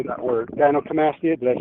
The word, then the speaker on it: gynecomastia: Gynecomastia.